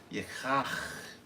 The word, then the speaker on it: Yachaach: It's two khas back to back. Yeah. Yeah. You gotta hear it on the end.